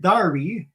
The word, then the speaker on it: Derby: tune there of course in uh england that would be called pronounced darby it's derby derby jack